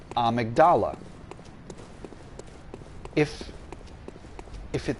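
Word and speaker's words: Amygdala: game there is uh a boss slash character named amigdala now it is spelled very is spelled exactly the same as the word amydala so a lot of car a lot of uh YouTubers and such call that character amydala and that would be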